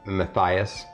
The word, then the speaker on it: Matthias: all right the first one is Matthias Jackson it's spelled m-a-t-h-i-a-s like Matthias uh and Jackson is d-a-x-x-e-n Matthias Jackson we